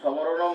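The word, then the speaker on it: স্মরণম: আর আমরা সামনে যদি মফালা থাকে তাহলে আমি যেহেতু বলেছি দন্ত সকে স উচ্চারণ করতে হবে, সেটাই আমরা যদি সমরণম বোঝো, মামেকম সমরণম বোঝো বলি আমরা, তার খুব তো ভুল হওয়ার কথা না।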